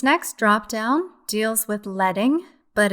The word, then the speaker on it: leading: drop down deals with leading but it's spelled like leading pronounced letting which is actually better